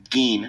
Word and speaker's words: Gein: Now you're doing something that rhymes with Ed Gein. No, not Geese.